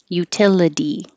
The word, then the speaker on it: utility: in the unstressed syllable so the second T can change to a d utility anything that ends in ity will sound like a d so this is utility